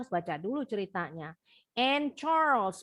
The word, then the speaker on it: Charles: baca dulu ceritanya and Charles bacanya Charles kalau kita nyebutnya Charles tapi bahasa Inggris bacanya bukan Charles Charles kayaknya hilang kayak